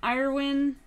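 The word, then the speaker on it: Eirwen: Okay, so for the player character, do we like Irwin as a name? Any other suggestions? It's spelled E-I-R-W-E-N, and it has some kind of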